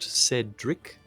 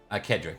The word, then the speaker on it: Cedric: Is it pronounced Cedric? yes. Kedrick, actually. The Kedrick in, Frank- Not Frankenstein? nice. in Kimrick, there's always hard sea, seas.